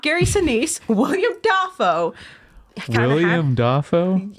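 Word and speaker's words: Dafoe: William Dafo. Is that how you say it? Defo. Defo. William Defo. It's okay.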